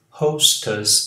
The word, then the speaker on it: hostess: The air hostess. Aqui é us, não é as.